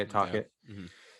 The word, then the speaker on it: Tocchet: Tocchet.